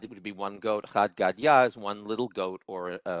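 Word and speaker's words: חד גדיא: The child's song had Gada. Is that So it is Chad Gadya.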